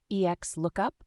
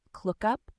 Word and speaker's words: XLOOKUP: Bobby tables serious question how does one pronounce X lookup ex lookup clup serious answer I say it the first way I remember reading the